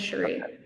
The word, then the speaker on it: Cherie: But and by the way, am I saying your name right? It's Cherie, right? Yeah, it is Cherie. So it's not A lot Cherry. of people mispronounce it.